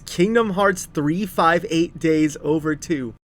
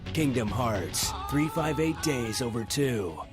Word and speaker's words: Kingdom Hearts 358/2 Days: to talk about this the official pronunciation is Kingdom Hearts 358 days over two I don't know why it is but it is just listen to this